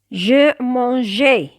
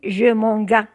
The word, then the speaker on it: mangeai: Mais pour éviter cette prononciation gay, je mangeais, on met un E entre G et les terminaisons du passé simple. Je mangeais, tu mangeas. S'il n'y a pas E, on dit je mangas.